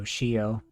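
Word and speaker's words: chiot: of two french words so shio it's not spelled like this it's c-h-i-o-t and it's the french word for puppy and so she n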